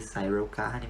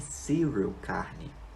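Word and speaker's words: Syril Karn: Enquanto isso, nós vamos para este cidadão aqui que eu pronunciei o nome dele errado por 7 episódios inteiros. Eu vivia chamando ele de Cyril Carne, mas é Cyril Carne.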